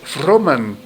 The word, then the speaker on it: Froman: ese güey Michael froman No se les olvide ese apellido no es como el economista Freeman no no no eso es otra cosa Este es froman Michael froman no sé